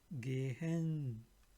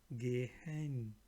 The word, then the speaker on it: gehen: Here you will see H steht ein H nach einem Vokal, wird dieser Vokal lang ausgesprochen. Meaning, whenever there is a H like this, it will be, you have to pronounce it a little bit longer, like stehen, meaning still, steel. Sehen, meaning see, to watch. Sehen. Gehen, meaning walk, go, walk. Gehen. So again, stehen, sehen, gehen. So you have to pronounce H for a longer time.